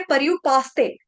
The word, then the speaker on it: पर्युपासते: यहां पर गलती से पर्युपासते, स आधा बोला जाता है, स आधा नहीं बोलना, स पूर्ण। और परयु, र आधा नहीं है, र आपको पहले बताया रफार वाला र है, आधा उच्चारण करना है, र का पूरा नहीं करना है, ठीक है।